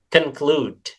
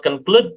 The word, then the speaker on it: conclude: Jadi, itu ya, conclude dibacanya conclude. Nah, ini juga sama. Walaupun ininya satu, ya huruf vokalnya satu, tetapi tanda ini menunjukkan bahwa dia harus diayun seperti long vowel. So this is not conclude tapi conclude.